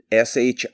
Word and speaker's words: shilajit: years i've started taking shilajit s-h-i-l-a-j-i-t shilajit it's how it's pronounced in india they call it the